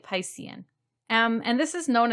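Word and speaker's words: picein: in the title but it's spelled p-i-c-e-i-n so i'm pronouncing it piscin um and this is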